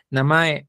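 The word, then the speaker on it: なまえ: la primera sílaba es la primera sílaba es baja y las demás son altas en la gran mayoría de las palabras Entonces es namae Ajá bien y cómo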